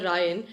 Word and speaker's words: Rayan: Because I know that in college you're Ryan. At home you're like, hey Rayan!